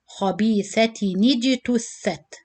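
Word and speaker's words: خبيثةٍ اجتثت: So you put kasra, and then you said خبيثة نجتثت, خبيثة نجتثت.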